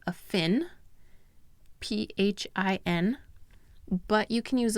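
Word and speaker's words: phin: using a cup shaped filter believe called a fin p-h-i-n but you can use a pour over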